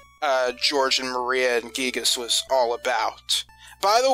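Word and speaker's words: Giygas: to be pronounced gigas because of how it derives from the original Japanese name which is gig so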